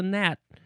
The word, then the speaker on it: gnat: Now, did the Old English people also not pronounce the G at the beginning of these words?